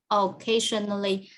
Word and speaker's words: occasionally: watch i watch movies occasionally teacher occasionally occasionally i i read right oh yeah occasionally yeah occasionally occasionally occasion on occasion because you are stressed on the second syllable so occasionally occasionally occasionally